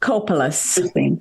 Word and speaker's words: Chopelas: And Chopelas was spelled with a K on the original ship record. Kopelas? That's correct. Chopelas, huh? Yep, Chopelas.